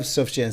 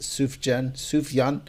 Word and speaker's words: Sufjan: I love Sufjan Stevens. I think that's how you pronounce it. Sufjan.